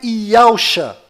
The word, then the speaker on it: Yahusha: E a pronúncia é Yahusha.